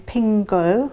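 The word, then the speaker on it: 苹果: So canteens in Hong Kong serving apple-related food, and the pronunciation of apple in Chinese is pingguo, which also means safety.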